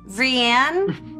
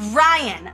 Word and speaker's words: Rianne: And he says, Rianne? Is Rianne Fielding there? And this girl shouts from the back of the class, Ryan, my name is Ryan. It's not that hard, it's Ryan.